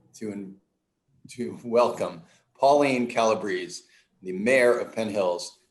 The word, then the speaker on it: Calabrese: uh because then people can know that it's calabrese for common please it rhymes that's that's so convenient i know my